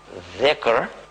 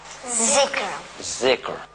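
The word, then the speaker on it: ذكر: thicker well it's an arabic word and it's pronounce thicker but some People pronounce it How z zik right and What does it mean it means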